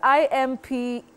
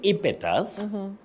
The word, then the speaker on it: impetus: Now, Betty, when you say impetus, impetus, you are making a mistake. Okay. That E takes the long sound E.